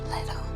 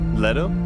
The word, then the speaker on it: Leto: I would name him Leto. Leto? Leto. Yeah, like his dad. Leto the third.